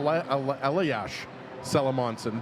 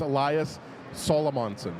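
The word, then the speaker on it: Elias Salomonsson: how to say his name properly Patrick El elash salamonson but it's no it's Elias solomonson there you go almost got her right there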